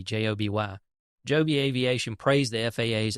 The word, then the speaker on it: Joby: progress toward certification I guess that's how you pronounce it Joby J OB y Joby Aviation praised the faa's efforts to release